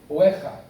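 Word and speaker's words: werra: En alemán se escribe Uerra, Ueja, porque el alemán es aquí, Ueja, W-E-R-R-A, Ueja.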